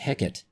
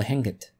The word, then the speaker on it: heket: The common name for beer in ancient Egypt was heket. It's also sometimes pronounced as hekt or henket.